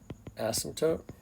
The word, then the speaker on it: asymptote: asymptote va's or vertical asymptote p is silent uh okay next definition